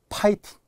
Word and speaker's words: 파이팅: 자, 이제 파이팅. 대부분 우리가 화이팅이라고 하잖아요. 그러나 F입니다. F는 100% 피읍이라고 했어요. 그래서 이제는 파이팅.